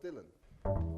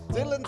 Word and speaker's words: Dylan: that he called himself dylan that's right he pronounced it the english way wrote it big across